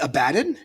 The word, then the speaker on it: Abaddon: I don't know if this has been pronounced anywhere. Wait, you mean Abaddon?